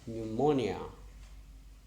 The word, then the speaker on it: pneumonia: f e knife and p n where is p silent p and eu pneumonia okay no no next